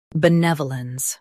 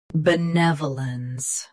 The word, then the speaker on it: benevolence: Benevolence. Both US and UK have the same pronunciation of this word. Stress ne. Keep v soft and clear. Benevolence. Benevolence. Stress ne. Keep v soft and clear.